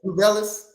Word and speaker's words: Tubelis: And the other guy was to how you pronounce his last name? Tubelis.